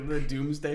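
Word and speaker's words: Domesday: to cover about the Doomsday Book is the spelling of the Doomsday Book so the Doomsday Book is spelled d-o-m-e-s-d-a-y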